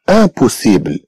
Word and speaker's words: impossible: ثم عندنا impossible. Impossible. إذا عندنا impossible. إذا le mot impossible comprend aussi le son 1 mais que s'écrit cette fois-ci avec IM.